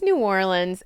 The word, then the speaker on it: New Orleans: It's New Orleans.